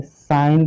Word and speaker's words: sign: क्या जरूरत पड़ती है, साइन की। SIGN, क्या पढ़ते हैं उसको, साइन। ठीक है, यही तो इसको पढ़ते हो, क्या पढ़ते हो, साइन।